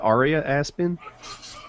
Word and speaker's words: Aria Aspen: Is it pronounced Aria Aspen?